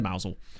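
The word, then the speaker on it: Mousehole: called pity me mousel I've actually been to mousel um hence why I say it correctly I um went on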